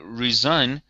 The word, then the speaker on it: re-sign: out the contract again, but then we pronounce it differently. We say re-sign.